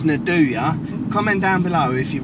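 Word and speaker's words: nduja: you say it yes nadua we had this debate at work I always kept calling it NAD but it's Nadya comment down below if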